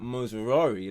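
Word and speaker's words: Mazraoui: asked you know like that so hopefully that moosari that's how you pronounce his name you yeah we do good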